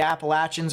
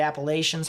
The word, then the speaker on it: Appalachians: be over here along the Appalachians or the Appalachians however way you pronounce it um believe it or not I pronounce it appellations but I've heard it both ways so um however way